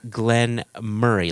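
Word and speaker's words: Glen Moray: So it's Lechig, and then Glenn Murray. Like, think of your best friend Murray, or Jason, in your case, your brother Murray.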